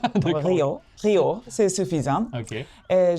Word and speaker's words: Riho: Mais bon, donc simplement je dis que c'est comme Rio de Jano, Rio Rio, c'est suffisant.